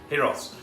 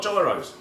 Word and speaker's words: gyros: to cook some giros heroes heroes it's not gyros i was caught i